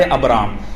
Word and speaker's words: ابرام: اصل نام جو ہے ابرام ہے، اور علماء نے اس پر الگ الگ تحقیقات لکھی ہیں، لیکن عبرانی زبان میں اس کا تلفظ یہی بنتا ہے ابرام.